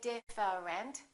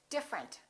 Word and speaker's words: different: TR are connected interesting look at this one we don't say different we say different the e disappears different here are a